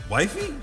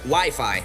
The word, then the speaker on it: Wi-Fi: Wifey? Actually pronounced Wi-Fi, Ralph.